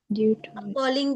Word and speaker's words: appalling: Appalling भी you can also use. Okay, appalling. Appalling नहीं होगा, पाप लंबा साउंड, appalling.